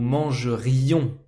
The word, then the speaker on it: mangerions: Nous mangerons, nous mangerions. You have to pronounce this I. If you don't pronounce this I, you're talking about futur simple.